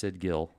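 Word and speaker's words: sigil: No, it's not Jill. It's sidzil. That's what I say. But, hey, everybody's got their own way to say it. Most people say it's sidgil.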